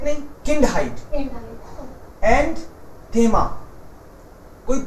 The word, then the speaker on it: Kindheit: Likha yahi tha aur pronounce galat kara. Koi baat nahi. Wohi kaam hai mera. Don't worry. So, beschreiben. And Kinderheit nahi. Kindheit.